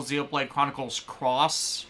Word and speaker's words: Xenoblade Chronicles X: Like, oh, so for the people who don't know about the original Xenoblade Chronicles Cross release, actually it is pronounced Cross Net X, we only learned this recently, the special edition version stuff kind of screwed people over.